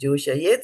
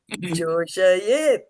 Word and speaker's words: joṣayet: Don't eat my vowels today. Joṣayet. Right? Not joṣayet. Yeah. Joṣayet, right? Every word, every syllable, every letter that Prabhupada has written there has to be pronounced.